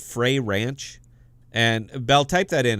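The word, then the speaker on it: Frey Ranch: down favorite uh apple juice ever is called fray ranch and bell type that in it's f-r-e-y space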